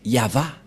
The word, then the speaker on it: Yahvah: vav et he et la prononciation de ceci c'est yava voilà la prononciation de